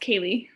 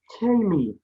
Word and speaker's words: Kaylie: Sorry, it's pronounced Kaylee. Kaylee.